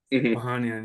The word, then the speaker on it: Ohanian: Ohanian, yes.